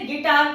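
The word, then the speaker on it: guitar: Just like in गिटार, यू के बाद आई आ रहा है तो इसे गिटार पढ़ेंगे, यू साइलेंट हो गया है।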